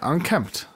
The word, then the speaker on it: unkempt: just point out that you said unkempt with an M and that is definitely an incorrectly used word as unkept thank you for for pronouncing that correctly yeah unkempt very well thank you